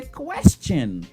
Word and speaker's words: question: C'est ça fait mot ça le prononcer question. Ou pas jamais entendre moun dire question. Ou même l'autre prononcer qui en dit question non, mot ça pas prononcer question, li prononcer question.